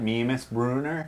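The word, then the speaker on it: Mímisbrunnr: ya me miss burner there you go you gotta say it like that me miss Bruner when you're ordering I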